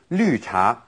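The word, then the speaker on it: 绿茶: another kind of tea lucha lucha literally green tea okay and of course here we have again that's pronunciation that we don't really have in English you do yeah lu cha green tea now the many different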